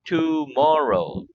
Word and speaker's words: tomorrow: oh here we go tomorrow three syllables the accident in the word tomorrow is on the second syllable more tomorrow let's practice